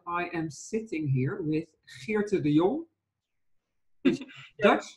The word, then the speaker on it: Geerte: am sitting here with Geerte de Jong, which is Dutch, which is really nice because now I can say the G just as it's supposed to be instead of saying my name